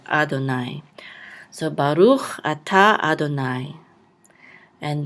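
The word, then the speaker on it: אֲדֹנָי: And here, this is an abbreviation for the name of the Creator, Yod He Vav He, and we just put Yod Yod to remind us to just say Adonai.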